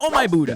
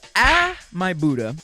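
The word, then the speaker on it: Ah My Budda: Oh my Buddha, not oh my Buddha. Ah my Buddha.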